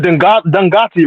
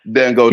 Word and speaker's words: Dangote: Like you can point out Dangati, right? Whatever his name is from Nigeria. Dangote.